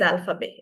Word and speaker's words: alphabet: Um alphabets in French are called as le alphabet. Everyone please repeat. Liz alphabet. Lay alphabet. Keep on le alphabet. Alphabet. Alphabet. We don't pronounce the T.